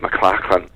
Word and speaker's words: McLachlan: mind that you know back in Scotland the spelling m c a c h l a n is pronounced mclarin and the Celtic origins